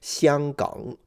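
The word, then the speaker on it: 香港: I can't pronounce Cantonese, but in Mandarin it would be pronounced Xianggang.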